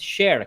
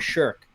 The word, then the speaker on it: shirk: attributes are identical, is shirk or something. Firstly, Khusro is talking about minor shirk, not major shirk. And it's shirk, it's not shirk.